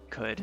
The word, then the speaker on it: Qud: how do you pronounce could I pronounce it could like could you not I have autism I